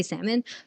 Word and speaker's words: salmon: I say like salmon. They say the L. I can't say it. I don't know how they say it because I say salmon, but they say salmon, for example.